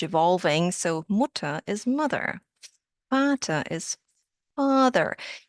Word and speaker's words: Vater: Vater is father. Yes, the German V sounds like an F.